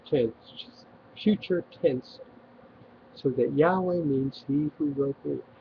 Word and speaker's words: Yahweh: the name is well the closest we can come to pronouncing it Yahweh my name is Yahweh